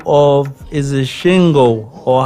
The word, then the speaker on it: Singo: by the name of, is it Shingo, or how do you pronounce it? Singo? Singo.